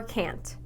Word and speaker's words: can't: I say can or can't I can set up the meeting yes I said can there was no long a sound they can't buy it